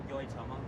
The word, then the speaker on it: Yoitomo: How do you pronounce the name of this restaurant? Yoitomo.